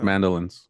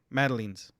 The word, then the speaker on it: madeleines: And less mandolins. Yeah. Madeleines. Not mandolins. Mandolins is that.